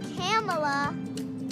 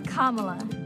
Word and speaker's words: Kamala: in 2016 it's not camela it's not Camala it's not camela it's kamla kamla Harris I'm kamla Harris and I approve this